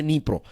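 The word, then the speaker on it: Dnipro: और ये जो नदी आप देख रहे हैं, राइट, नीप्रो इसको कहते हैं, राइट, डी से इसकी शुरुआत होती है स्पेलिंग की, लेकिन प्रोनाउंसिएशन है नीप्रो।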